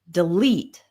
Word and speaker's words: delete: And when we have two-syllable verbs, we usually stress the second syllable. So we have relax, begin, delete, arrive.